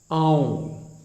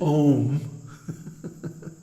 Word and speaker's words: Aum: that the pranava, Aum, don't mispronounce it Om, because first of all, it has three letters, A, U, M, A, U, M, and each one gets a full beat. So it's not Om, it's Aum.